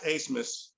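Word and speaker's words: Abmas: dude's name max max asmus uh which i thought was a funny pronunciation since his name is spelled a-b-m-a-s but max a-smith he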